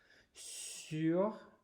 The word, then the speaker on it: sur: And then continuing with the next tricky part, pronunciation-wise, sur has that lovely U sound, okay?